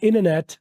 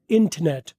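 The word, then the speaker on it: internet: य पर इन नेट इंटरनेट को क्या अमेरिकन वाले बोलते हैं अमेरिकन वाले बोलते हैं इनेट ब्रिटिश वाले बोलते हैं इंटरनेट अमेरिकन वाले बोलते हैं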